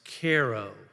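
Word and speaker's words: Cairo: I traveled to a a little town called Koo Illinois Koo is spelled c a c AI r o like the city in Egypt but as I quickly found out it's pronounced Koo um I went there to report report for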